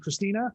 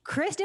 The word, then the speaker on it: Christy: and Christine, his wife, Christina? Christy, she's Christy, spelled like Christy, me.